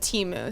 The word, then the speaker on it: Temu: definitely seen an ad from a company called Teemu so it's spelled temu yeah and you'll recognize it because